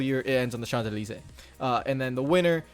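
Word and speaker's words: Champs-Élysées: ends uh on the chandelier which is that reads paris champs elysee but in french it's called the chandelier that is the most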